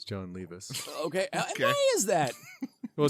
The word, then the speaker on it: Levi's: And people who are not in the know will pronounce it John Levis, but it's clearly John Levi's.